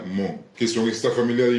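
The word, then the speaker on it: Hmong: entiendo que se pronuncia mon, que son esta familia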